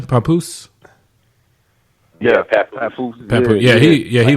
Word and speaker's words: Papoose: How do you pronounce his name? Papoose.